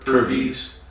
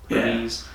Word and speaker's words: Purves: How do you pronounce his last name? Purves. Purves.